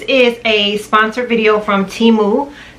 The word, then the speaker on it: Temu: a sponsored video from temu it's pronounced T moo and they are a